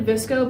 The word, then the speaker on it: VSCO: No, I know Maddie had a Visco, but she never like used it.